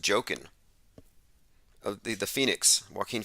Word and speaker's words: Joaquin: tech inc says that joaquin is pronounced joking of the the phoenix